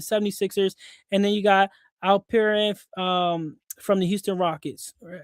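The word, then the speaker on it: Alperen: Maxi from the 76ers, and then you got Al Perin um from the Houston Rockets.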